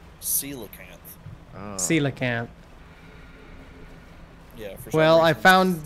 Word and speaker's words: coelacanth: learned it is not what's it how's it pronounced coelacanth silicon yeah well I found the Sela Camp